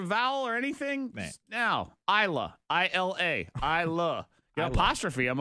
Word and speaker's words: Isla: It's Isla. Isla. Isla. The S is silent.